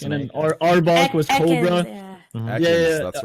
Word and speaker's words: Ekans: It was like Ecan, the Pokemon Econs, like backwards was Snake, and then Arbok was Cobra. Ekans, that's right.